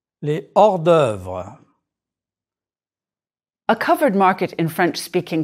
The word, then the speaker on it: hors d'œuvre: Les hors d'œuvre. Liaison and elision are not used with this H. Prononcez, s'il vous plaît. Les haricots verts. Les hors d'œuvre.